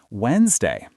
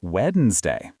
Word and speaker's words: Wednesday: Yes, English drops sounds like comfortable, not comfortable, or Wednesday, not weddednesday.